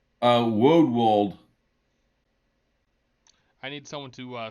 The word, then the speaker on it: Woldwald: Oh, it's Woodwald. I need someone to spell that. It's not a word. WOLD WALD.